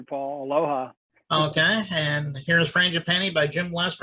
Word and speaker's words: Frangipani: It's called Frangipani. Am I pronouncing that correctly?